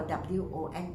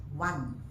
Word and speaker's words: won: Now actually the correct pronunciation for W-O-N is one. 1, 2, 3, that one. But many of us in Malaysia here, we use won.